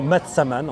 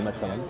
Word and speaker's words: massaman: mais voilà c'est intéressant le curry maman ou matsaman en prononcer matsaman c'est un Curri thaïlandais